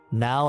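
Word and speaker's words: ん: N like now, except you'll never say the ow part. Now, except for don't say the ow. So it's n.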